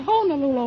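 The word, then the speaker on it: Honolulu: sights of honol Lula they pronounce it honol Lula over there when I was there well that's like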